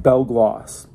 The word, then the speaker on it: Belle Glos: talk about this so even though it's spelled b-e-l-l-e then g-l-o-s it's pronounced bell gloss it's in honor of